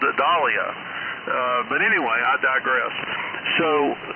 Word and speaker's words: Idalia: That name is not pronounced Idalia. It's the I is silent. It's interesting to me that everybody's mispronouncing the name. Anyone that has that name, they are called Idalia.